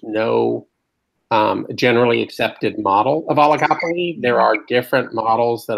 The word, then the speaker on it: oligopoly: I just started is it pronounced oligopoly? It is.